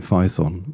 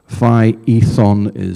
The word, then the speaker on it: Phaethon: I've always used to call it Phaethon, but Phaethon seems to be one pronunciation, but you can look elsewhere on the internet and you get it called Phaethon. So there's a difference between the pronunciation.